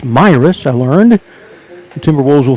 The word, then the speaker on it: Miras: christi myras classic tournament i've been mispronouncing it miras it's my risk i learned the timberwolves